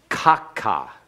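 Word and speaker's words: ככה: Notice that the accent is on the first syllable.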